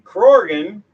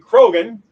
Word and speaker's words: Crorgan: Crorgan, which is how he's pronouncing Crorgan. The Canadians pronounce it Krogan, but that's fine.